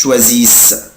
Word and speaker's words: choisissent: vous choisissez، بس مش بنطق الاي اس اس او ان تي، مش بنطق الاو ان تي، بقولها كده il elle choisissent.